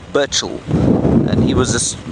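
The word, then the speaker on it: Burchell: It's Burchil. B U R C H E L L. Burchil.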